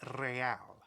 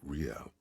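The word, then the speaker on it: réal: you owe me 130 real pronounces the r with a mock aristocratic accent the i i r or inter isol real is the global Reserve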